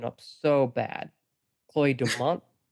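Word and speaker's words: Chloe Domont: I'm gonna mess this pronunciation up so bad. Chloe Deont. That's right. Yeah, Chloe Deont.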